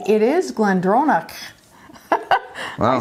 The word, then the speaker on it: GlenDronach: my gallec since last year because i actually pronounced that correctly it is glendronach i said it better the first time the